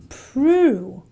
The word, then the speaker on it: prove: So the O will not be pronounced as an O, but an oo in words like these. So prove is not prove, but it is a prove.